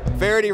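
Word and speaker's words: Feherty: buy Australia wrong correct Verity rhymes with popularity no correct David farady's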